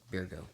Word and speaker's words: Birgu: So it's funny because it sounds like the words beer and the words goo. Birgu.